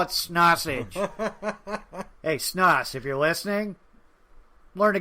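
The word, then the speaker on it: Schnaas: But, yeah, I sat through because it was requested, a Andre Snoss. That is how you pronounce it, though I still want to say Snossage. Andre Snoz.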